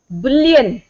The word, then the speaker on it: Boolean: Stress on B. Boolean. Boolean algebra भूल गए?